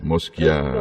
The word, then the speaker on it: Mosciaro: Vamos conversar então com a Moschiaro. Falei certo, pronunciei certo seu nome, não? Bom dia, Bom doutor dia, Thanos. querida, bom Moschiaro. dia. Moschiaro.